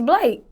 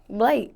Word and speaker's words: Blake: your stage name uh the correct way to pronounce my stage name is Blake Blake is simple do people mispronounce this